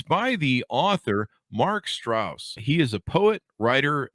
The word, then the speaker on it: Straus: And did I get your last name pronounced correctly? Straus, correct. Straus.